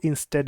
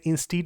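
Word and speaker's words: instead: नहीं आएगा, इसलिए आपको इंस्टेड यूज़ करना पड़ेगा। कुछ बच्चे इसे इंस्टीड बोलते हैं, बट इसकी जो सही प्रोनाउंसिएशन जो फ्लो में जाती है आपकी फ्लुएंसी में, स्पीकिंग में, वो होती है इंस्टेड।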